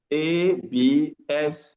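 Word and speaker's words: absent: Absson again. Absolut becomes P. There's a process of assimilation in this context. That's high level of phonetics. So note that it's abs.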